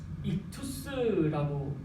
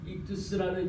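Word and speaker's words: ΙΧΘΥΣ: 이게 익투스라고 읽는 물고기를 형상화되어 있는 그 표현인데요.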